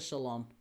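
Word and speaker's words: Ceylon: Um, but yeah, I get a salon, a Lambka salon, spelled with a C. C E Y L O N.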